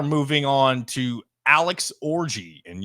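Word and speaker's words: Orji: on to to Alex orgy and yes that is his name orgy it is not spelled with the inappropriate way of orgy if we're being if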